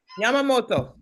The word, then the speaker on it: Yamamoto: Yamamoto.